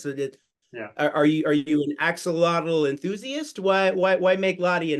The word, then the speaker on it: axolotl: So you know how like in Spanish they don't pronounce the X like we do. It's like a H sound or something.